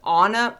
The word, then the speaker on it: Ana: I believe it's pronounced Anna.